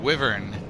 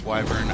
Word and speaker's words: wyvern: a heated argument about the pronunciation of w-y-v-e-r-n because when i was a kid i said wyvern and my cousins were adamant that it was wyvern and so we looked in the dictionary and it the the dictionary at the time supported them wyvern with the i i really i